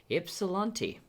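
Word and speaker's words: Ypsilanti: in a neighboring city called epsilonti so oh this sounds futuristic epsilon yeah and it's spelt with a y at the front so that's very confusing so the one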